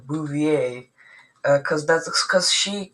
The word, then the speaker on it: Bouvier: actually it's actually um pronounced with a French accent like Bouvier.